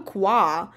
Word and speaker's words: Kwa: John Kwa. Actually, this word, in Polish, I would say it like kwa, and it's like quack in English. It's like the sound of ducks.